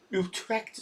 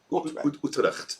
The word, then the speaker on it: Utrecht: Utrecht, have I pronounced that right? Utrecht.